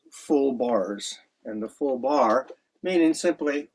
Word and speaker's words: barre: And the full bar meaning simply what a bar is uh I mean it's spelled B A R R E is that instead of